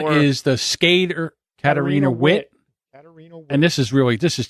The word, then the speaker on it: Witt: one is the skater Katarina Witt. Katarina Witt. And this is just a It's actually pronounced Vit.